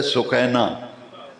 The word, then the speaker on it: سکینہ: تو امام علی مقام گھوڑے سے نیچے اتر کے دیکھا تو ننھی سکینہ، اصل اس کا پروننسیشن اور تلفظ ہے سکینہ، مشہور سکینہ ہے، حضرت سکینہ گھوڑے کی اگلی دونوں سموں کو ننھے دونوں بازوں میں لیے ہوئی ہیں.